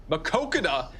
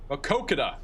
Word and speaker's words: Maquoketa: See if I can get the pronunciation. Maquoketa. Nobody's been correcting me. Maq- Maq- Maquoketa? Oh god, I got to leave this one open. I've been saying it a lot.